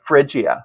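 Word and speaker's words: Phrygia: You're going to you're going to have to pronounce that for me. That's okay. Friia.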